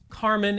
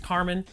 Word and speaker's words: Carmine: living in Portland that it's pronounced Carmine and not Carmine.